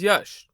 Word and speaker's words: Yash: hi my name is Yash it's pronounced like hush but with the Y instead of an H when I heard that